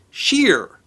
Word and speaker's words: shire: great vowel shift when Shire would have been pronounced Shearer those names are literally artifacts of anyone's past